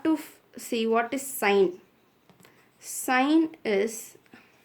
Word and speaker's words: sine: Sine is, we should not pronounce this as sin. It's not sin, it's sine.